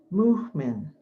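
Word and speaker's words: Mu'min: like this wazifa yah muhman that's spelled mu apostrophe for the glottal stop m-i-n yah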